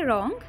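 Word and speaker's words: wrong: रंग this is रंग इसमें डब्लू साइलेंट हो जाएगा तो हम बोलेंगे रंग रंग का मतलब क्या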